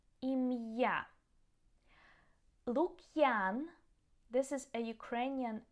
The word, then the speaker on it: Ім'я: So we also use the apostrophe in many borrowed words or foreign names to keep the pronunciation correct. So for example, musical, it means musical. Musical. Ім'я, name. Ім'я.